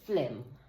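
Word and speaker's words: phlegm: pronounced H let me hear okay so it's pronounced Flem right that's how you pronounce you say Flem it's f l h l e g m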